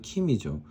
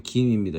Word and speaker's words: 김: 사실은 이게 발음으로는 킴이죠. 그 영어의 킴과 헷갈릴 수 있는데 영어의 킴하고는 아주 상관이 없고요. 그냥 김을 영어 표기로 할 때 KIM으로 해서 외국 사람이 읽을 때는 당연하게도 킴이라고 읽을 수밖에 없습니다. 두 번째는 GIM. 두 번째는 GIM, 김입니다. 이 김이 사실은 그 발음상 정확하죠.